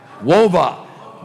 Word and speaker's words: WAVA: So if any of y'all have an interest in that, I guess go to Wava. Does anyone know how you pronounce that correctly? WOVA. Go to WOVA.